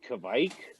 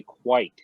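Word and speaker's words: kveik: probably heard it so i always said kavik kind of pronounce it that way but i think you're actually supposed to say quite so like you pronounce white um in norwegian so uh this is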